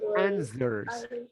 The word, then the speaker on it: answers: answer words okay answers when you read it i says answers don't pronounce the w no no guttural here no answers answers okay now there